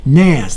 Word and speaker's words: NAS: from a company called 6l I think I'm pronouncing that right Nass that's na s stands for network attached storage